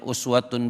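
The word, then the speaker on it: أُسْوَةٌ: Kalau kita kembalikan ke ayat 21 ini, laqad kana lakum fi rasulillahi, ada yang bacanya uswatun boleh, ada yang bacanya iswatun juga boleh.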